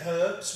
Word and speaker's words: herbs: We say herbs. We use the letter H in it.